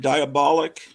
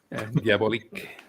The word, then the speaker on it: Diabolik: And So have I been mispronouncing it all my life by calling it Diabolic? well, it's Italian, so you're supposed to pronounce it in Italian. I always pronounce it diabolique. Diabolik.